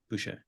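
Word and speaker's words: Boucher: Flynn Gary Trent Jr Jaylen McDaniels uh Chris bue is that how you say it yeah bue uh precious auua uh and then Grady dick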